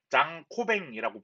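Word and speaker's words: Jean Cauvin: 그렇기 때문에 프랑스식으로 이름을 부른다 한다면 장 코뱅이라고 부른대요.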